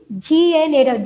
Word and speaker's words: gnaw: So gnaw means here spelling you see G-N-A-W. G is silent. Huh? We say gnawing the food. G-N-A-W. That is gnaw, not G. We don't pronounce. Okay. G is silent. N-A-W. Gnaw only you should say.